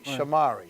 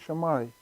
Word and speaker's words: Sumari: name again oh well it rhymes with Ferrari Sumari Sumari yes we have to